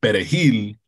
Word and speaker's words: perejil: Because of the way the R hits in Creole and French, it's at the back of the mouth. And perejil, the R is at the front of the mouth. So it's hard to say if you are a native Creole speaker. So somebody who is a Creole speaker will probably pronounce it like perejil, because that R is hard.